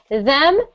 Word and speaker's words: them: Keep your tongue out of your mouth like this. Them, their, the.